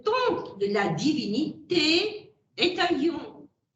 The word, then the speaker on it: Aion: Pour Platon, le temps de la divinité est Aion. Je prononce à la manière grecque.